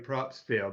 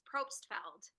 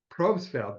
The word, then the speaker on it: Probstfeld: amazing lady named Valerie Propsfield. Now, Valerie, am I pronouncing your last name correctly? It's Propesfeld. Probesfeld. Valerie Propesfeld. So, sorry about that, Valerie. I just slaughtered.